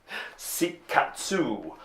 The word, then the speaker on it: Seikatsu: points is the winner that is seek at soup and that is officially how to pronounce it so that is seek us see katsu in many ways to